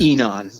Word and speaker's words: Enon: Well, I enjoyed your second novel, Enon or Enon, or how do you pronounce that? Enon.